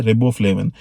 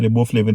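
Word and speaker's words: riboflavin: bread के अंदर यह रिबबो फ्लेविन आपको मिल जाएगा आई थिंक इसकी करेक्ट प्रोनाउंस एशन राइबो फ्लेव है अच्छा एंजाइम्स और रिबबो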